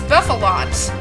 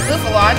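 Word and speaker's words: Bouffalant: It's pretty much, I pronounce it Bouffalont just because a bouffant is the kind of hairstyle, hence the name of this one.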